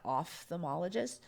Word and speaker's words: ophthalmologist: pronounce it then because that's OPH should be off off the malla gist is it ophthalmologist so I look at